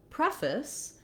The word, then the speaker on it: preface: In preface, the stress is actually on the pre syllable, and the letters FACE no longer say face. That's because they're in a shortened, reduced syllable. So my main stress in preface is on the first syllable, so that has the clear vowel like in red, which we typically spell with letter E.